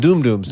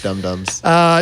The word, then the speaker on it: dum-dums: And doom-dooms. Doom-dooms. Oh, that's right. Recent memory. That's three. It's dum-dums.